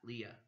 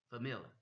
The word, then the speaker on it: família: Okay, that's how they say it. Uma família, família, uma família, not Lia, família.